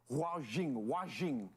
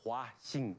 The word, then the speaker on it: Huaxing: Just to make sure, am I pronouncing it correctly when I say Huajing? It's a Huaxing. H-U-A, Huaxing.